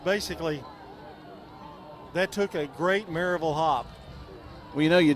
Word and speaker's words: Maryville: a hat on and it said Mur VL marville cuz that's is how they say it just like shevel couldn't get it all